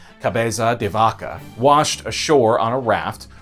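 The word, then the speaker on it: Cabeza de Vaca: a Spanish explorer named and I hope I'm pronouncing this right Caba deaka washed ashore on a raft one of the few survivors of a disastrous Expedition launched by Santo Domingo the year before cabaza devaka ended up spending several years living among the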